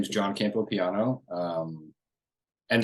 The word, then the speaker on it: Campopiano: sure yeah so uh my name is John Campo piano um and it's smart to have you introduce